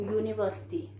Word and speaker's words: university: i can give you university so this is pronounced as u so that's why i am putting a university right university is a